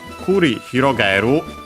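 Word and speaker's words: 繰り広がる: So, kurihirogaru, unfortunately accented despite the accent of hirogaru on its own unaccented. So, be careful.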